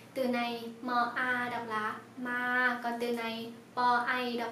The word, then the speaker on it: มา: Từ này ma đọc là ma, còn từ này pai đọc là bay, ma bay.